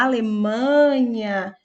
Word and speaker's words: Alemanha: nós temos Alemanha e na palavra Alemanha a sílaba tônica é uma que é sua antepenúltima sílaba portanto é uma paroxítona